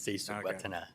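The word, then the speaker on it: Srisuwatana: The R is silent, so it's Sisuwatana.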